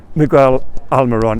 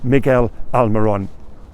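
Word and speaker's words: Miguel Almirón: 2 stars, Miguel Almiron, and I've pronounced that right. I know there's one user who pulls me up every time. Yeah, come on, we'll give it another go. Miguel Almiron.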